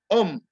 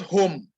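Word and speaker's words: homme: home it is um the h is not pronounced is um like you want to pronounce umbrella um that is how you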